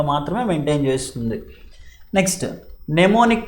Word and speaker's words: mnemonic: Next, mnemonic codes. M is silent.